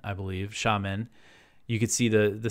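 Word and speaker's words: Xiamen: islands and you could see the skyline of sha men the the Chinese City that's spelled x i a m n I believe sham men you could see the the skyline there that's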